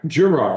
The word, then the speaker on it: Gerard: Gerard. Gerard. Close. Okay, hard G.